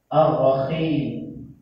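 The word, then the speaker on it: الرحيم: Misalnya dalam lafaz Bismillahirrahmanirrahim, kita membacanya menggunakan kha. Ar-Rahim, tertukar, yang harusnya ha menjadi kha.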